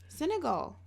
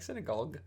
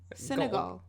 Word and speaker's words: Senegal: africa say it again senegal just because you hear it wrong doesn't mean i'm saying it wrong it sounds like you're like synagogue senegal synagogues in africa okay